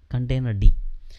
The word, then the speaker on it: containerd: So cri-containerd nobody will pronounce, but container D.